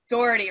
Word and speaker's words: Dougherty: I am with Dale Doherty, right? That's the pronunciation?